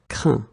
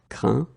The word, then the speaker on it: craint: Okay, final T not pronounced. Craindre, craint. Éteindre, éteint. Okay, so one more time. Atteindre, atteint. Craindre, craint.